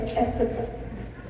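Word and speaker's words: Ephphatha: Aramaic जो word है, ये अरामी एक वर्ड है, और अरामिक में जो इसका जो प्रोनाउंसिएशन है वो है इफ्ता।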